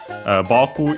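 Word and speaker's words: 僕: Boku is accented on the first syllable, so high, low, boku.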